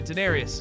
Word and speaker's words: Daenerys: Or Daenerys. Is that how you say it? Oh, yeah. Yeah, Daenerys.